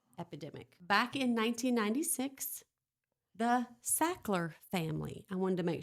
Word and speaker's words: Sackler: Back in 1996, the Sackler family, I wanted to make sure everybody knows how to spell that, s a c k l e r.